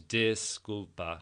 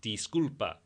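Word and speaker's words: disculpa: Disulpa. No, it's D. The I's in Spanish are a really long e sound. So it's disulpa.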